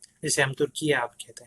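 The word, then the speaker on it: Türkiye: officially उन्होंने ये तुर्किया जो है अपने लिए चूज़ किया, क्योंकि तुर्की का जो उनकी अपनी ज़ुबान में वो तुर्किया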